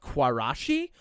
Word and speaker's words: Quarashi: I was such a little nerd that I listened to a band called Quarashi. Uh they're it's spelled Q U A R A S H I.